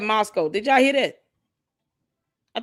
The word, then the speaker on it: Moscow: Candace, it's Moscow. Moscow. Maskou. That's how it's spelled to pronunciate it.